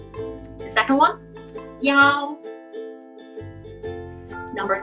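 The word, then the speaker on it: 幺: Both pronunciation are in the first tone. Let's try again. The first one, yi. The second one, yao.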